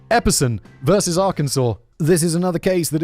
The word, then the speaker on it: Arkansas: Arkansas, as I thought it was pronounced for the first 2.5 decades of my life. But actually, Arkansas. Epperson versus Arkansas.